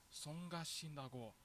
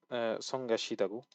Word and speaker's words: 성가시다고: 우리 엄마는 벌레가 성가신다고 말씀하셨어. So here's mispronounced 성가시다고 as 성가신다고.